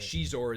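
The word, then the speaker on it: Xizor: they left it out of the video game where like Prince Zizor or Zizor, whatever they want to pronounce it. Shizor is the Shizor, really?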